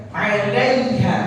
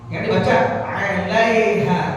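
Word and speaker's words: عليها: Perhatikan bacaan alaiha, jangan dibaca alaiha. Harus dibaca alaiha. Ya, alaiha hanya gede, lalu ketemu ha tipis.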